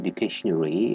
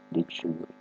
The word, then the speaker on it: dictionary: many student mispronounces saying dictationary it's not dictationary it's dictionary now let's break it